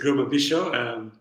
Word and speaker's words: Girma Bishaw: so what do you say my name is gruma bisho originally from ethiopia many people struggle to pronounce my name so i always tell uh